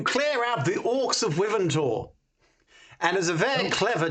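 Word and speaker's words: Wyvern Tor: Last time we were going to see the wars of Ivantalk or something. Oh, Ipsy, you and your mispronunciations. It's the Orcs of Wiventor.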